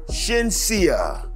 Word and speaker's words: Shenseea: It is Shenseea.